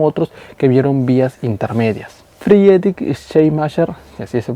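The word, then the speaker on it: Friedrich Schleiermacher: Friedic Shamasher, que así se pronuncia, padre de la teología liberal, aceptó el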